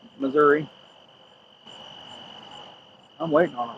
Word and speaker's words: Missouri: I didn't pronounce it misery, did I? Just Missouri.